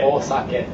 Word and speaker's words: osake: But the correct pronunciation is, once again, sake. Sake. Osake.